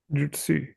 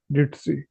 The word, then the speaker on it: Jitsi: According to the spelling, speak it. Just that in place of a Z or a Z, say S. Jitsi. Perfect. Again. Jitsi.